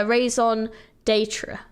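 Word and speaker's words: raison d'être: reason to be okay how how do I say it ra raise raon the datra datra yeah raison datra okay rayon datra got it okay he's pronouncing e Detra Detra it is French perfect I actually little little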